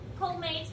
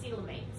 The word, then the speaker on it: coelomate: So other things about the annelids is they are colmates, which are true body cavities. I think they're pronounced coelomates.